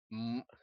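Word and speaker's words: 五: pronunciation it is called m okay which is very hard for uh non-speakers to pronounce so for the most part it is an m followed by an ng consonant um but that's basically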